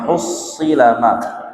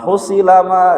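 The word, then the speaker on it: حُصِّلَ: Jadi huruf sodnya dibaca tidak bertasydid. Wa hussilama katanya, padahal wa hussi ya. Wa hussila ma fis sudur, harus ditasydid karena di sodnya ada tasydid.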